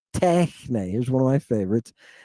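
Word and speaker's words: τέχνη: Techne. Look at it. Tau, epsilon, he, nu, eta. Techne. Not techne with an accent on the end, but techne with an accent over the epsilon.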